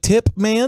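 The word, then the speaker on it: Tippmann: his name was titman titman with a p like tip man t-i-p-p-m-a-n-n okay titman I think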